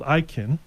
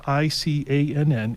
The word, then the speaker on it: ICANN: as well also there is a organization called ikin which is spelled i-c-a-n-n it's an it's an acronym that stands for